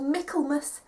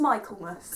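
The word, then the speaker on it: Michaelmas: the Autumn spring and summer terms they're called melus Hillary and Trinity I I didn't know how to pronounce melus until like two weeks before I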